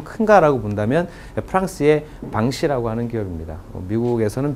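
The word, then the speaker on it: Vinci: 그렇다면 어느 기업이 가장 잘하고 매출이 좀 큰가라고 본다면 프랑스의 방시라고 하는 기업입니다. 미국에서는 빈치라고 읽히는데요.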